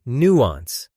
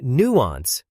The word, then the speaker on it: nuance: Now choose the word nuance. When I listen, I try to notice the nuance in tone. Repeat it. Pronunciation. Stress on new words. When you learn nuance, stress the first syllable.